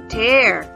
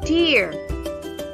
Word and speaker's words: tear: in the first picture tear it sounds like air tear the second word